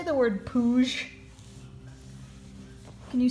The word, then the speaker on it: Pooj: Belle is going to show you how to pronounce it. Nookie, can you say the word Pooj? Can you say Pooj for me? Pooj.